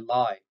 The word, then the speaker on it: Lie: The last bull we want to highlight in the December run is 12241 Lie, which means hillside and not a lie. Norwegian pronunciation is Lie.